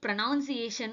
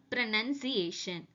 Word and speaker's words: pronunciation: இதை நம்ம எல்லாரும் ப்ரொனவுன்சியேஷன் சொல்லிட்டு இருக்கோம். பட் இட் is correctly ப்ரொனவுன்ஸ்ட் ஆஸ் ப்ரனன்சியேஷன். Because நல்லா நோட் பண்ணிக்கோங்க, ப்ரொனவுன்ஸுக்கு NOUN வரும், இங்க பாத்தீங்கன்னா அந்த ஓ கிடையாது.